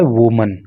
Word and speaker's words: women: लेकिन जब हमें इसे प्लूरल करना होता है, बहुवचन करना होता है, तो इसकी स्पेलिंग में थोड़ा सा चेंज हो जाता है और WOMEN हो जाता है। ए के स्थान पे ई हो जाता है। लेकिन केवल इतना ही नहीं होता, बल्कि बोलते समय इसका प्रोनाउंसिएशन भी बदल जाता है। अभी हम इसको पढ़ रहे हैं वुमन, और उस समय इसको पढ़ते हैं वीमन।